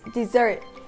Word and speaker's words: desert: But the tricky part is that the verb form of “desert”, having the same spelling, is pronounced dɪˈzɜːrt, just like the word “dessert”.